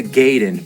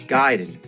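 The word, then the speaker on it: Gaiden: we're talking ninja giden everyone always said Ninja gayen but I know for a fact it's giden I learn that from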